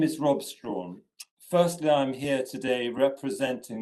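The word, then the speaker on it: Strachan: The village is pronounced Strawn. Um, but people in Scotland mostly 90% pronounced Strachen and um uh and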